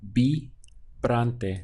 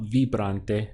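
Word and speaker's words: vibrante: in Spanish be Bronte did you catch this VI as a B sound B Bronte so not V Bronte but B Branton how do you say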